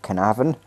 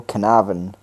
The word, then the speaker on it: Carnarvon: Yeah, that's how you say it, Carnarvon. You non-speaking Welsh people, Carnarvon.